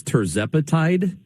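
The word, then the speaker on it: tirzepatide: might it I want to make sure I'm pronouncing this right but it's terzapatide isn't that the name of the drug and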